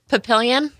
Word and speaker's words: Papillion: How did you pronounce that? Papillion.